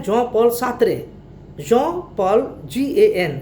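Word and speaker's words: Jean-Paul Sartre: उसमें दूसरे हैं John पॉल सार्त्रे, John पॉल GAN, gene है, इंग्लिश में जीन कहेंगे, लेकिन चूंकि फ्रेंच भाषा का ये शब्द है इसलिए जॉन पॉल सार्त्रे इसको कहा जाता है।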